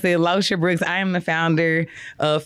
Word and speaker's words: Locha Brooks: So for anybody that's trying to pronounce it, Locha Brooks, I am the founder of First Class Educator.